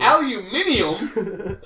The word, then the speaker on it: aluminium: is going on here aluminium oh I didn't know that was the correct way to say aluminum yeah we love Top